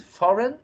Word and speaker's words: foreign: Many people tend to say foreign, pronounce the I. Don't pronounce the I here, okay, guys?